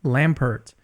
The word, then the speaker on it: Lampert: real-life exorcist, Father Lampert. Is that the way they pronounce your name, Lampert, or is Yes, it that is silent correct. there? No, it's Father Lampert. You got it right.